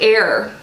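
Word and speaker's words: Eir: african black soap also it's pronounced like error e IR it says areas of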